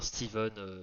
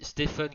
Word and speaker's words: Stephen: Mais voilà, on dit bien Steven, mais si vous dites Stephen King, je n'irai pas vous péter les roues.